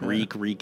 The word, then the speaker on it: Reek: Yeah, Reek, it rhymes with leak.